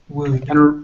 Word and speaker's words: would: the saying so these all rhyme could good would and remember that even though wood has this l you don't pronounce the l so all these are in